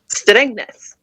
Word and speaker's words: Strängnäs: from, I'm probably going to pronounce this long, Strängnäs in Sweden. Is that right, Charlotte? That was nearly right. Oh, right, okay. Close enough. Right, okay. How do you pronounce it? Strängnäs.